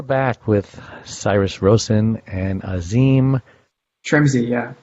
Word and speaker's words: Asim Trimzi: And we're back with Cyrus Rosen and Asim Trimzi, yeah. So it's pronounced just like it sounds, just like it looks.